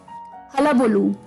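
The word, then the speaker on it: hullabaloo: का दोस्तों, वो भी एक अटपटा वर्ड है, हलाबुलू। हलाबुलू, जी हाँ दोस्तों, इसकी प्रोनाउंसिएशन अटपटी है, हलाबुलू, HULLABALLO, हलाबुलू।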